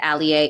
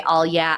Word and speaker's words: Alyea: a l ye a it is pronounced Alia if you say all yeah I won't get mad